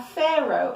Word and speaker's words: pharaoh: food to survive a pharaoh a pharaoh is the king of ancient Egypt let's look at the pronunciation again Pharaoh it's a sound of F like Sphinx and Pharaoh pH here